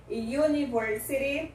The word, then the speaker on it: University: University, o som do Y.